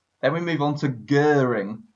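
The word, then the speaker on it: Göring: we move on to Goering Hermann Goering and that's how you say it in German and he introduced the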